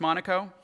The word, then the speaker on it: Monaco: Pronounced Monaco. Yeah. Like the place in Monte Carlo.